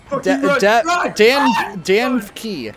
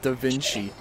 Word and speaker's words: DaVinci: ] eminem rap gods here davinci hearts are pronounced yeah or or davky dan key is how uh alex said danke instead of da vinci it's d-a-v-i-n-c-i da vinci it's a very good